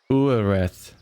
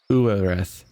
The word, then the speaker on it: Ureth: Ureth. Uereth. With the hard TH sound. Uereth.